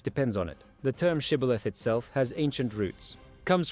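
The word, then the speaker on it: shibboleth: So they used a word shibilith, a Hebrew word meaning stream or ear of grain. The Ephraites couldn't pronounce the esh sound. Their dialect didn't have it. They said cibilith instead.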